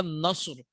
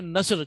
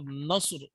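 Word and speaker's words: نصر: ठीक है, याद रखिएगा सौद को सही से प्रोनाउंस करिएगा, नस्र। इसको अगर आपने नस्र कहा तो वो एक जानवर का नाम हो जाएगा। ठीक है ना, तो सौद का ख्याल रखिएगा इसमें और नस्र कहना है आपने।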